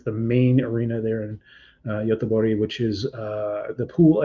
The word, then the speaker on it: Göteborg: This year is in Göteborg, Sweden, or Gothenburg, Sweden, the English pronunciation.